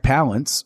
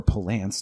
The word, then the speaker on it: Palance: It was many years later hearing the story about Jack Palance, or Palance, depending on how you want to pronounce it, flipping out on one of the first days of filming.